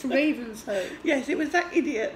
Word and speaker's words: Ravenshoe: Now, we pronounced it as you would. Ravenshoe. It's spelt Ravenshoe. Do you know how you pronounce it, Bunty? Ravenshoe. And the locals are very... If you say, oh, it's we're going through Ravenshoe, they go... Idiot, it's Ravenshoe.